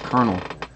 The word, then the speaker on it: colonel: looking at the colors I don't think that's Colonel yeah that's how you say colonel why does